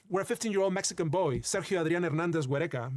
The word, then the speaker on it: Sergio Adrián Hernández Huereca: Mesa, where a 15-year-old Mexican boy, Sergio Adrián Hernández Huereca, that's how you pronounce his name in his native Spanish, was playing with friends near the border when a U.S.